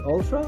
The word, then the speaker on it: Altra: Ultra for some time is that how you pronounce it Ultra oh yeah Ultra Ultra and I've been following